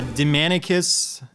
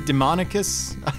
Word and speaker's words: Demanicus: adl grady's letter yeah demanicus they sometimes pronounce it demonicus i think not everyone